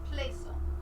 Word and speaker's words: Plaisance: My name is Plaisance.